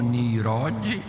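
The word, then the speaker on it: Ninrode: caçador diante do Senhor, ou pronunciando melhor, como Nirode, poderoso caçador diante do Senhor.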